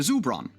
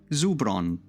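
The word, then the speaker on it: żubroń: the Zubron. Yeah. Or sorry if I've butchered that word. There are a bunch of accents on consonants which I'm not used to. I think it's pronounced, yeah, Zubron.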